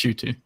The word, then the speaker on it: Ncuti: It's spelled NQT, but yeah, it's Ncuti.